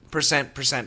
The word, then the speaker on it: percent: So once again percent percent you don't need to really hit the T pronunciation. The American pronunciation however the R is very clear.